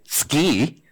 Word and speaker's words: DSCI: be here at seci especially since Chris this morning told me I have to pronounce it ski um and what I'd